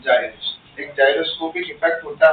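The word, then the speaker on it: gyration: अब कुछ टीचर जो है इसको गायरेशन बोलते हैं, ठीक है, बट एक्चुअल इसका सही प्रोनाउंसिएशन जो है वो क्या है, जाइरेशन।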